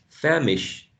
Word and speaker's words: famished: ending will have just a t sound famished famished okay not family but famished the plan is to